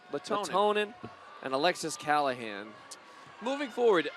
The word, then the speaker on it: Lehtonen: There's an extra syllable in there. Lehtonen and Alexis Callahan.